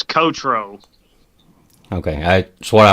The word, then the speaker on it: Cottraux: never heard your last name so i can't pronounce it it's kotro okay i that's what i would have said